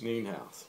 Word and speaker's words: Nienhuis: I did pronounce that right, didn't I? Nienhuis. Nienhuis.